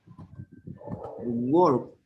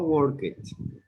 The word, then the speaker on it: worked: We have other regular verbs like work, worked, no work it, worked. The pronunciation is different, the ending of the verb is different.